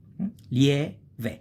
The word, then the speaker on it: lieve: Lie, I, and E is a diphthong. Ve. Lieve.